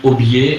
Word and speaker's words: aubier: Ça s'écrit aubier, A-U-B-I-E-R, aubier de tilleul.